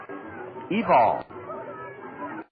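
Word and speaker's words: Evel: spells his first name e-v-e-l and it's not pronounced evil it's pronounced evil lives in Hialeah Florida down near Miami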